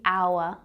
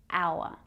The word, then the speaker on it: hour: The apple, the elephant, the orange, the hour. Yes, we have the H consonant sound that is silent.